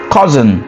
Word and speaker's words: cousin: And then the next one will be, if you want, we can add cousin, which will be cousin, mon cousin, ma cousine, mon cousin. So cousin is cousin, similar spelling, different pronunciation, right?